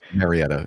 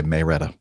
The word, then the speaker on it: Marietta: Marietta is the correct pronunciation, but we a lot of us say Maretta.